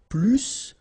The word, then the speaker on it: plus: in that case, remember, plus will be with the S. So pronounce it plus que.